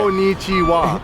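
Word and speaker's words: こんにちは: Konnichiwa. Is that how you say it? Slightly different with the pronunciation right there. Konnichiwa.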